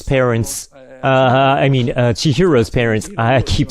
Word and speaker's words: Chihiro: So at 9 minutes, Chisato's parents, Chihiro's parents, I keep saying her name wrong.